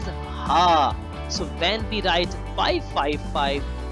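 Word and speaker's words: ห้า: In Thai language, because Thailand uses Thai language, the 5 is pronounced as ha.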